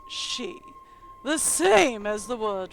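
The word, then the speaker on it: 四: to be aware of the number four is pronounced she the same as the word for death and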